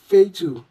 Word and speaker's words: fatal: Now in number 18, we have a word that has two different ways of pronouncing ah. So this word shouldn't be fatal, they are not of the same pronunciation. So the correct way should be feitu, feitu. The two A's are not pronounced the same way. Emphasis should be laid on the long A sound, feitu, feitu.